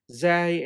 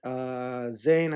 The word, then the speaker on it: zay: fine now the normal the name of the letter zay in arabic is sometimes pronounced zay and zayn as we discussed so in both situations it is the exact same letter ra and i have